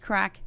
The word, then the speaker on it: craic: there too plenty but CRA I see spelt but pronounced crack means fun in Ireland